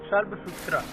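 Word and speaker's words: Shulbasutra: S dash as in Sushruta and एस एज इन नक्षत्र may be pronounced more or less sh in shall. The Shalbsutra is pronounced as Shalbsutra.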